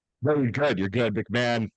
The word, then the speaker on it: McMahon: How'd I pronounce it? Am I doing good with that? No, you're good. You're good. McMahon, like Ed, like Vince, like Jim, only I'm